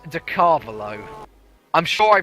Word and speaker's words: Carvalho: Carvalho. That's close. But Ricardo Carvalho, the football player, pronounced like that.